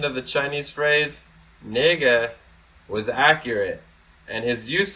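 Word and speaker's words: 那个: word nega can we pronounce both naga and nega but for this usage nega is normally used confusing chinese word [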